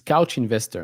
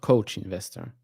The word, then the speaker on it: Couch Investor: It's Couch Investor, not Coach Investor.